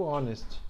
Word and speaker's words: honest: né e o adjetivo honest tá então aqui a não neste meio bom então essas quatro palavras em inglês as derivadas delas são as únicas que o h é mudo e tá na hora